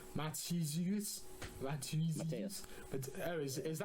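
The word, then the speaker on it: Matteusz: you just pronounce it Matthias.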